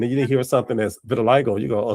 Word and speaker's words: vitiligo: Uh, for people that don't know, it's pronounced vitiligo.